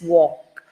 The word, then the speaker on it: walk: I remember one student said walk, then you said it is not, L is not pronounced, it's walk.